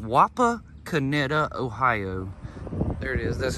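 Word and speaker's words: Wapakoneta: we've stopped here in a small town called wapa kineta ohio there it is that's how you pronounce the name of the town wapa kaneda ohio i wanted to stop here the entire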